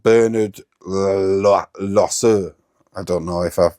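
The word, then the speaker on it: Loiseau: real life French chef oh okay called Bernard losu I don't know if I've butchered that it's l o i s e a u loo uh Bernard loo but yeah maybe is Gusto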